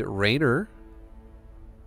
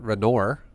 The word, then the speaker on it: Reynor: going to look at two pro gamers named rayner are actually pronounced renor and liquid kim just kidding it's rainer versus clem okay guys okay so let's see